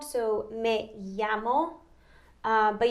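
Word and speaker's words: llamo: ya sound so me yamo but you don't necessarily have to you know pronounce the l in spanish it's more of a ya so okay um so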